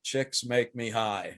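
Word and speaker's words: Csikszentmihalyi: i'm not he said he told me this is how i pronounce my name chicks make me high that is not true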